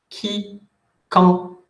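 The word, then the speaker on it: Quincampoix: Recuerden que AM suena un, Quiquempoix, cuando tienen Q, no importa qué letra haya después, suena K. Quiquempoix, y OI se pronuncia wa. Quiquempoix, el X ni se pronuncia a la fin.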